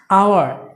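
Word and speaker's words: hour: সো এখানে বলতে পারো এইচ তো কনসোনেন্ট, বাট এখানে উচ্চারণের একটু ফ্যাক্ট রয়েছে, আওয়ার, এইচ এর উচ্চারণ কিন্তু নাই, আওয়ার।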